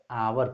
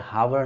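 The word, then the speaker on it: hour: तो आई shall be back in, इसको क्या पढ़ेंगे, आवर पढ़ते हैं, हावर नहीं।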